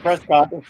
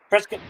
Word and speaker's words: Prescott: like Bert's got Arizona it's not Prescott brisket brisket listen and if anybody's